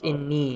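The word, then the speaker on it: إني: fatha over the nun, but it's pronounced inni. Yeah, you have to you have to look at it relative to the shadda. If it's under the shadda, it's inni.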